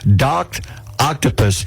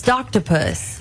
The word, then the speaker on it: Doctopus: there, you go to Docked Octopus, and you can follow. The account has more than 425,000 followers on TikTok watching the boy with his octopus. You said it wrong. What? It's Doctopus.